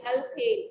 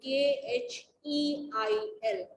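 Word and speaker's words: الخيل: of human body, like Al-Khail. Al-Khail was a book on horse. Al-Ibil. Please, as I am pronouncing it, please learn it so that you will pronounce it in the same way. Al-Khail, Kheil.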